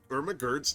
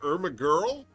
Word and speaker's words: Irma Gerd: influenced people by well getting irma gerd's name wrong four weeks in and she's still calling her irma girl i mean after the